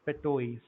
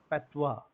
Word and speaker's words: patois: It's petois.